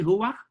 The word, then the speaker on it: Hua: And am I pronouncing it correctly? Hua? Yes, that's correct.